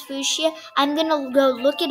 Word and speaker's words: Fuchsia: yeah fuchsia i don't know what how you pronounce fuchsia i'm gonna go look it up and yeah